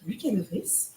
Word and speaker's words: Lucas de Vries: Commencer, bienvenue à tous à ce TechMaya consacré à DataDrift avec Lucas De Vries. C'est comme ça que ça se prononce?